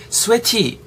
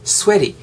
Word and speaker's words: sweaty: 좋겠어요 all 그 다음에 sweaty 라고 하지 마시고 그냥 sweaty 뒤에 t 사운드가 약간 tig 사운드가 리을 정도로 발음이 되거든요 그래서 all sweaty repeat after me all sweaty all sweaty 이런 식으로 했다는 거죠 아시겠죠?